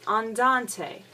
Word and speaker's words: andante: a n t e now we have to pronounce every letter because this is Italian so we say Andante Andante is slow it's